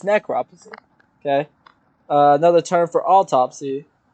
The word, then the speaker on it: necropsy: you say that hold on necropsy necropsy it's necropsy okay another term for autopsy what do you